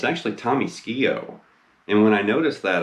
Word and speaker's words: Skeoch: came from but yeah i used to call him tommy skiach but it's tommy ski-o so anyway and also